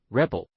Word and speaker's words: Rebol: And then he built Rebol pronounced Rebel.